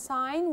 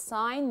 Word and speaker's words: sign: mean by sine and you have to know that sine we have silent letter so it's sign not second okay let's